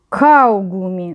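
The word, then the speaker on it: Kaugummi: теж чоловічий рід дег каугумі наголос на а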